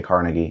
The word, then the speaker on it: Carnegie: Carnegie, the industrialist, but I believe the name was actually pronounced Carnegie, but I'm going to say Carnegie because that's how I think most people tend to pronounce it.